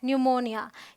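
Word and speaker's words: pneumonia: number two कहता है अगर पी के बाद एस हो या टी हो या फिर ए हो तो पी साइलेंट होता है तो यहां देखिए पी एन है ये है न्यूमोनिया यहां भी पी एन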